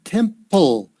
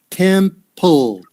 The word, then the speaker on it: temple: um now the word temple temple that p l e sound is all it always tricks people okay temp pull now when you say the